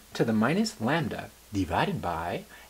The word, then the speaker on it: lambda: e to the minus lambda divided by x factorial, where lambda, pronounced lambda, is the mean number of occurrences in an interval, and the value of e is approximately 2.71828.